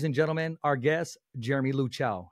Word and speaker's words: Luchau: you pronounce it it's luk cow Li cow oh okay as in like a cow as in moo yep okay well then